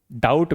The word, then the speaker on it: doubt: जैसे नाइफ में नाइफ में के साइलेंट ऑनेस्ट में एच साइलेंट और डाउट में डाउट में बी साइलेंट।